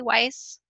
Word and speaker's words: Weiss: So Lisi Weiss, is it Weiss, Lisi? Am I saying it correctly, Weiss? You are. Why? Okay. Like smart. Oh, smart, wise.